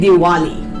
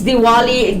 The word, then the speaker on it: Diwali: so Dali in English they call it diali because of the W being there right but it's it's Diwali the Pali as I